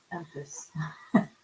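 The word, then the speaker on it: Empis: to specific fairy tales when he gets to Empus. Is that how you say it? Yeah. You know how to say it because you heard it in your ears. Empus.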